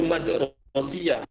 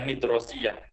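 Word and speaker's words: المدرسية: Itu harusnya mat ya. Kalian bisa ganti harokatnya itu karena keyboardnya itu. Jadi itu madrasiyah, bukan midrosiyah.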